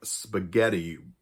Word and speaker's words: spaghetti: like ghost or ghastly we also have what's like spaghetti an Italian word where the GH is pronounced like a hard G and that H actually is in there to harden the g into a g however with words where